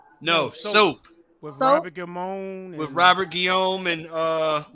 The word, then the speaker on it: Guillaume: Gillamy, yeah, that guy. You pronounce it Guillaume.